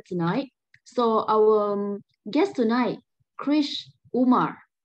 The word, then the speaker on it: Krish Umar: And now he is Krish Umar. Not and much difference. Sorry, how do I pronounce it? You can just say Krish Umar.